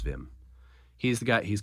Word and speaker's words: Wim: It's spelled like Wim, but he's Dutch. It's Wim.